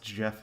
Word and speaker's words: Geoff: It's pronounced Jeff, of course. Yeah, it's Jeff.